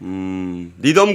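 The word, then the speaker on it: Needham: 니덤 고문, 네. 니드햄이라고 부르는 분도 있고 니덤이라고도 부르는데 미국 발음은 니덤에 가깝습니다. 뭐 편한 대로 보시죠.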